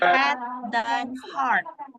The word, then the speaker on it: head: Cara bacanya adalah had.